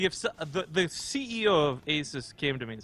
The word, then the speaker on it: Asus: Oh lord, there's a considerable amount of Americans tweeting at me that it's Asus, like Dr. Seuss, like Asus.